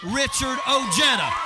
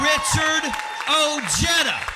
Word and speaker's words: Richard Ojeda: I'm Richard Ojeda. I am Richard Ojeda.